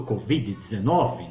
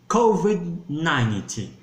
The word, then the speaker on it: COVID-19: Nós falamos do Covid-19, né? Então, como é que nós pronunciamos essa palavra em inglês? Nós vamos dizer COVID-19.